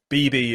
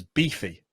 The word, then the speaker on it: Beeby: correct by the way bb is exactly how my name is meant to be pronounced so that's wonderful oh great yeah exactly it's not always the case sometimes uh uh it gets mispronounced a lot in letters as beefy which is a very different word but um so uh